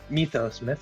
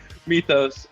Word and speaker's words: Mythos: the walls of mythos mythos is the correct pronunciation uh sorry meet those uh and i almost